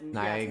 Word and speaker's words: Naegi: Last name is Naegi? How do you say that? It's Naegi.